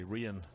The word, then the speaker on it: Rhian: You say it properly as well, don't you? The Welsh way, Rhian. I'm going to have to get used to that.